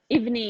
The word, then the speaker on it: evening: evening aha and also make sure you're pushing your tongue back there evening almost pronouncing the G evening evening yeah okay